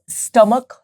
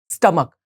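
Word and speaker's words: stomach: जो correct pronunciation है, इस वर्ड की जो करेक्ट प्रोनाउंसिएशन है वो है स्टमक। क्या है? स्टमक, नॉट स्टोमक। तो प्लीज ध्यान में रखें, आपको स्टमक बोलना है, नॉट स्टोमक नहीं बोलना है।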